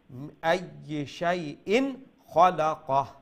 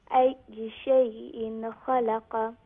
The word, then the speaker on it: أي شيء خلق: Without Ikhfa, meaning with Izhar, with clarity. Okay, so it's not going to be Shay'in, it's going to be Ay Shay'in Khalaqa. Ay Shay'in Khalaqa.